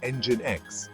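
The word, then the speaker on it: nginx: demands on web servers ngx pronounced engine X entered the scene in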